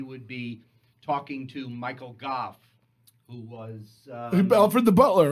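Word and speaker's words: Gough: was friends with Michael Goff. Yeah. Which I believe is how you pronounce his name. We always Yeah. called him Gog as kids.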